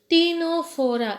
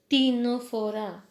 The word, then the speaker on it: Ctenophora: Next phylum is phylum Ctenophora. Again C is silent here. Phylum Ctenophora.